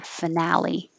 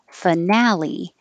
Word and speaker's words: finale: would just say the finale and you can say na or nah finale or finale either way hedgehog this d g